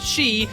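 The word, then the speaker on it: 四: This was put in to freak out Japanese gamers as the number four is pronounced she, which is also the word for death.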